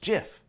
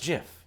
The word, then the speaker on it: GIF: animated gifs for goodness sakes and yes it's pronounced jiff no this is Jeff yes it's pronounced jiff this is Jeff and yes it's pronounced jiff